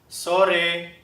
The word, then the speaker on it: sore: sore 好，其他的例子应该都很容易。